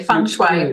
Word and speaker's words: feng shui: You said it correctly, feng shui.